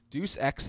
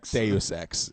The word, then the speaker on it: Deus Ex: care okay moving on Deuce X the fall now Deuce access Deus Ex sorry yeah about to say